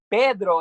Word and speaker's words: Pedro: And I call Pedro is what it sounds like. Pedro is how you say it.